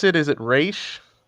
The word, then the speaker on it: Ra's al Ghul: How do you pronounce it? Is it Raish? Ra's al Ghul.